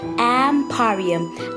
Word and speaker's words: Mporium: Pipi, shortcut for baby panda, and Mporium, pronounced as Mporium, is an online store with a twist.